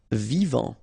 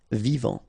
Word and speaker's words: vivant: Vivant. Final T not pronounced. Vivant.